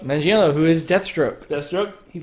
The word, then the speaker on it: Manganiello: Manganiello? Manganiello, who is Deathstroke.